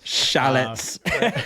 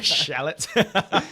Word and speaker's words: chalet: Shallots. Shallots. Oh man, It's got to be French. Yeah. So yeah, I've Some never kind been of French. some kind of French. There's like a silent T in there.